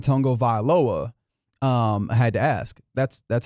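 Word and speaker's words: Tagovailoa: And what he said in a video that I'm sure I could go and search up again is Tungo Vailoa.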